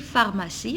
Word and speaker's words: pharmacie: Alors, regardez comment j'écris pharmacie avec PH. Alors, ici, le mot pharmacie, il commence par PH et PH, je la prononce F.